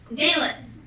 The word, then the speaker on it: Daedalus: Starts with D, ends with S, and rhymes with Aeschylus. Sort of. Who? Wait, no, Pegasus! Rhymes with Pegasus! No idea. I have no idea. Daedalus.